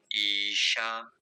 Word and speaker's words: ईशा: लंबा खींच सकते हैं ओम ईशा ऐसे क्योंकि जो दीर्घ दीर्घ ई है दो मात्रा खींचना है।